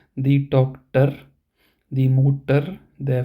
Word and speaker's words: Mutter: So here we pronounce it as der Doktor, die Mutter, der Vater, der Bruder. So it may sound like we ignore the R part completely.